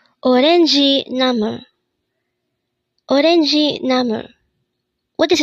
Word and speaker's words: 오렌지: Orangi. This is pronounced as a three-syllable word. The first syllable is O, second syllable is ren, and third syllable is G. Pronounce it with me. Orangi.